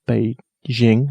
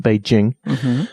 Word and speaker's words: Beijing: to Beijing which I learned is not actually pronounced be Jing but beij Jing whilst there which was useful then Shanghai and